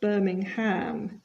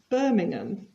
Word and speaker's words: Birmingham: present continuous our playing and you'll notice the pronunciation here it's not Birmingham it's Birmingham and it's not born Mouse but Bournemouth what